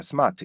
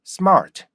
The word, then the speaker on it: smart: 연습해 보실 거예요 어 우리나 사람들이 딱 보면 스 이게 발음 하잖아요 그죠 스마트 이렇게 발음하는데이 스마이 발음이 뭔가 잘못됐냐 이렇게 생각할 수도 있어요음 하지만 어 여러분들이 SM 이렇게 발음하는 거에는 어 소리는 비슷해요 Smart 하면 소리는 비슷한데 뭐가 달라요 리듬 리듬이 다르단 말이에요 그죠이 탄력과 리듬이 달라요 그렇기 때문에 원어민이 발음하는